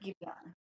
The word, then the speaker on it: Giveon: It's spelled Giveon. Giveon? Him, Yeah, okay. Giveon.